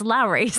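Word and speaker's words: Lawry's: You guys ever have the Lori's seasoning salt? Oh, Lowry's. Lowry's? Is that how you pronounce it? Yeah, it's Lowry's.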